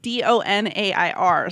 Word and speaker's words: donair: Well, where I'm from, it's like D-O-N-A-I-R. So it's like okay. Donair.